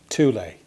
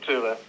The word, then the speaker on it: Thule: either but it's uh t double o l double e is the correct way to do it exactly fantastic well thanks